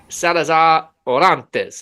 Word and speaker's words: Salazar Orantes: Alicia Salazar Orantes. Am I saying that correctly? You're saying it perfectly. I am. Excellent. You have to roll your R's a little yes, bit.